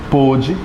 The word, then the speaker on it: pôde: Então você pode pensar também na diferenciação da pronúncia, né? Pôde e pode. Pôde passado e aqui presente.